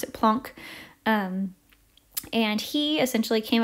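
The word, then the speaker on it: Planck: is um which is cool that's how you pronounce it plon um and he essentially came up with this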